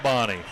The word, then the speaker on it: Bonney: Kendall Bonney or Kendall Booney, how would you pronounce that, Dave? Number 7. I'm going to call it Bonnie.